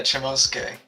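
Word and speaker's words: Chomusuke: these little spoilers that I'm leaving around, is Chomosuke. I think that's how you pronounce it? Chomosuke? Yeah, Chomosuke.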